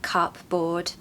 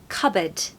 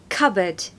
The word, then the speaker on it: cupboard: Cup right but no it's not cupboard or cupboard it's actually a silent P so the hack here is that it is cupboard cupboard stress the first syllable cupboard cupboard just be